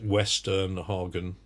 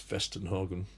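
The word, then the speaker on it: Westernhagen: was Weston Hagen spelt the W in English western Hagen but it's pronounced fest in Hagen and we went from playing mm C 2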